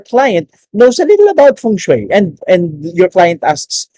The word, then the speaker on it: feng shui: for today is basic feng shui it's it's pronounced as feng shui for the real estate folks no it's not